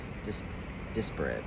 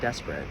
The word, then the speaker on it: disparate: Apocalypsis indicates a particularly painful time, one that unfolds when two disparate. How do you pronounce it? It's not desperate.